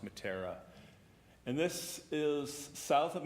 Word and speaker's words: Meteora: It's pronounced Matara.